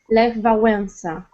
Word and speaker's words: Lech Wałęsa: Well, because in Polish you would also, we have some special letters and there are some commas above and under the letters. So it should be, the 2 letters should look a little bit different. So the right pronunciation is Lech Wałęsa.